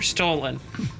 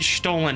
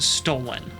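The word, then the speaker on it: Stollen: you wouldn't know that it's not pronounced stolen because it's spelled the exact same way as the English word stolen except one L I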